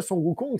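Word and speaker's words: Sun Wukong: pérégrination vers l'ouest puisque sukong c'est la prononciation chinoise donc originale de s Goku s Goku c'est la prononciation japonaise tin voilà donc quand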